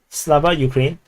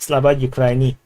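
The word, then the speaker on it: Слава Україні: Slava Ukraine is actually pronounced Slava Ukraini.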